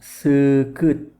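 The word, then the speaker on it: seukeut: E dibacanya e agak panjang. Contoh katanya adalah sekut yang dalam bahasa Indonesia artinya tajam ya.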